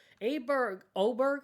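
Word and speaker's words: Åberg: Oberg, I think it was. It's spelled Aberg.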